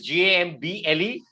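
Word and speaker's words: gambol: word is spelled g-a-m-b-o-l here the spelling is g-a-m-b-l-e the other word is spelled g-a-m-b-o-l can anyone tell me what is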